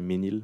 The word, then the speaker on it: Mesnil: Well, Mesnil is the English pronunciation. In French, we say Menil, but I'm good for Mesnil.